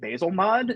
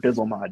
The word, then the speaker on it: Bzlmod: by the way i' I've always been pronouncing it basil mod that's how I've heard it just so I'm not trying to like enforce the pronunciation but if I say it that way I haven't heard bizel mod yet okay well this is